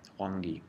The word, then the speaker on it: Huangdi: is a text called the Inner Canon of Huangdi. I believe that is the correct pronunciation. If anybody, is that Mandarin? Can anybody pronounce Mandarin in the room? Yes, it is, and you're pronouncing it perfect. Okay, Huangdi, there you go.